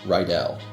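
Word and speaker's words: Ridell: Just as a note, it's pronounced Rydell.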